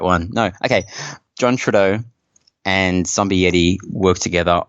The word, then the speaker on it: Trudeau: John Trudeau. Did I say it right? No, Trudeau.